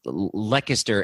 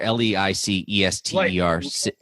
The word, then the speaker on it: Leicester: be able to pronounce this um lechester l-e-i-c-e-s-t-e-r i'm sorry you're talking about soccer now or what are you talking about yes soccer leicester leicester who were i have